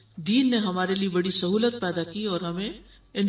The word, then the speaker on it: سہو: سہو ہوتا ہے، سہو نہیں ہوتا. سب لوگ اپنا تلفظ بھی درست کر لیں. سہو جیسے لغو، ٹھیک ہے، کرب، نفس، سہو. سجدہ سہو کے اسباب، اس کے 3 اسباب ہیں.